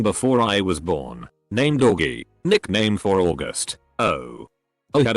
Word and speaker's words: Augie: Then when her little brother was born she asked me if she could call him Augie, pronounced Oggy.